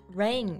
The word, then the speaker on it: rein: Rein, right?